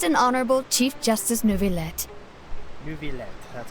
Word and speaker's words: Neuvillette: Neuvillette, that's how you pronounce it.